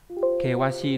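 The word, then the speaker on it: 険しい: Hiểm sẽ là kewashi đúng không?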